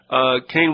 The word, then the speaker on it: Kahn: He pronounces it Kane. It's K-A-H-N.